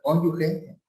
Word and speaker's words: cónyuge: Estos gastos son deducibles, ya sabes, para ti, para tu esposa, tu concubino, cónyuge, se pronuncia cónyuge, padres, abuelos, hijos o nietos.